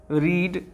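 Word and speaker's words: read: उसके बाद रीड, तो आप समझिएगा रीड एक ऐसा वर्ड है जिसका V2 V3 का स्पेलिंग रीड ही रहता है, लेकिन आवाज़ बदल जाता है। मतलब कि जो स्पेलिंग V1 में है वही V2 में है, वही V3 में है, लेकिन V2 से इसको रेड पढ़ा जाएगा।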